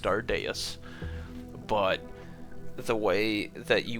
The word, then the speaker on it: Stardeus: recognition, I know that it's supposed to be pronounced Stardeus, but the way that you want to say it to me is Starduce just immediately like because just Stardius just like